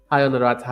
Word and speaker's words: Honorat: but then I remember the h the h is silent hi honorat how you doing today nice to have you on the stream.